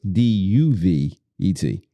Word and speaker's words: duvet: silent letters? D-U-V-E-T.